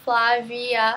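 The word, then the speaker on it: Flavia: And my middle name is pronounced Flah-VEE-ah.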